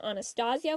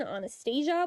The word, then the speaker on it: Anastasia: When it comes to the name, I will be using the eastern pronunciation, Anastasia, when I talk about the real person. And when I talk about films that use this pronunciation, I will use the western pronunciation, Anastasia, when I talk